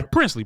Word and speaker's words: Princely: Princely.